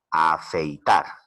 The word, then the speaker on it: afeitar: En la palabra afeitar, afeitar. Por la pronunciación es una palabra aguda, ya que la mayor fuerza de voz recae en la última sílaba.